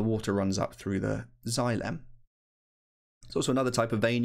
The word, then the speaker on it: xylem: some tubes called xylem that word is pronounced xylem sounds a bit like xylophones got the same three letters on the front as xylophone does and you can think